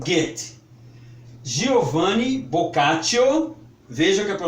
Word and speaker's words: Boccaccio: alemão pronuncie gente Giovani vocation se liga para o moço aqui escreve-se boccaccio mas a pronúncia é vocatio também conhecido no Brasil